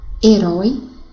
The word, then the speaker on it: herói: Porque a letra H não tem som, não é verdade? Então, seria emitido dessa forma: haver, herói, hino, hora, humor.